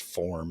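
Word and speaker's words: Phorm: Fitness Nutrition supplement brand called first form and it's spelled p-h-o-r-m and I'll say that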